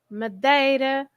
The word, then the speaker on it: Madeira: The way you pronounce it is A. So, yes, it's always A, like Ericeira, Madeira, Peixe, yeah, Okay.